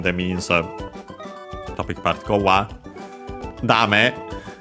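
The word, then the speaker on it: だめ: Dame, an adjective which means accent on the last mora, no good, not serving its purpose, useless, and so on.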